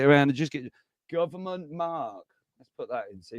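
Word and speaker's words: marque: Congress the power to award a letter of Mark so it's spelled m a r qu u e a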